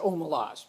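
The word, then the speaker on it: Omelas: this is I would I pronounce it OMA laws but the ones who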